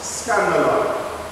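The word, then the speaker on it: σκάνδαλον: From verse 42 to 47, a Greek word is used, which is pronounced scandalon.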